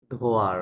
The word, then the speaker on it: droit: uh, droite ধোয়া, রাইট, হ্যাঁ, ধোয়া, রাইট। এখানে টি আর droit এস সাইলেন্ট থাকবে, হ্যাঁ?